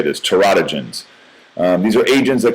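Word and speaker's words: teratogens: Terodogens is how you say this. Terotogens.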